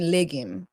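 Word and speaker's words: legim: So like um it's it's spelled L E G I M. Haitian liim.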